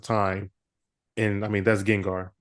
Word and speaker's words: Gengar: Um, I do want to ask you, how do you pronounce it? Gengar.